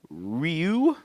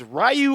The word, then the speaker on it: Ryu: Champa as Ken M ERS Byron man is Ryu and it's funny cuz they all is rayu or Ryu yes thank you that is exactly